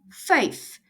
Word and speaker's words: vyf: Number five, vyf. The V in Afrikaans is pronounced as a f.